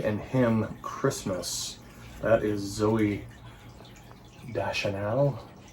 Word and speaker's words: Zooey Deschanel: him christmas that is zoe da chanel that's how you pronounce it there she is she